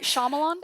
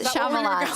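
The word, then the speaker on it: Shyamalan: that's some sham like twist I can never pronounce it I don't know why I tried which is shamalan yes shamalan there you go uh it was never me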